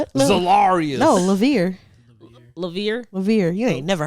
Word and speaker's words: Levere: up right solarius no levere levere levere you ain't never heard that okay sounds French but if the French pronunciation lay